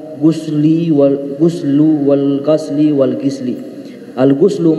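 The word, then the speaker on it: غُسل: Al-ghuslu mandi itu dengan membacanya dengan dhamma adalah maknanya ta'mimu jami'il badani bil ma', yaitu meratakan seluruh anggota badan dengan aliran air.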